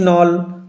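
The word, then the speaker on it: knoll: and here on grassy নল উচ্চারণ লক্ষ্য করো কে will remain silent K silent থাকবেন্ড হয়ার গ্রাসি নল হয়েন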